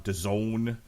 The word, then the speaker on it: DAZN: There's Alexander Vesputin versus Radzab Butev on DAZN, which rhymes with calzone.